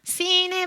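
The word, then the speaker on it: שׂין: 그리고 sin의 발음은요. 스입니다. 그래서 사메크와 동일한 발음이 납니다.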